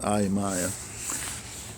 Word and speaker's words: Ayamaya: This is Ayamaya. That's what they pronounce it, Ayamaya.